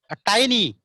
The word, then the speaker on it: tiny: Tiny, not teeny beta. We pronunciate it like the tiny teacher, the tiny teacher.